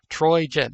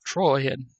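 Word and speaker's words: Trojan: of the troyen war troyen not troyan not not troen but it's spelled here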